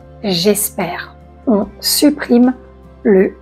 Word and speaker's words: j'espère: On ne dit pas je espère, on dit j'espère.